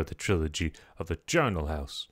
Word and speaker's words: Charnel: the trilogy of the Charnel House. I want to call it the Channel House, but that's not how you say it.